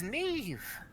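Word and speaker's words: Niamh: spelling and things uh Neve is spelled n-i-a-m-h it's an Irish word or name and it's uh one of those they have strange letter combinations uh and then she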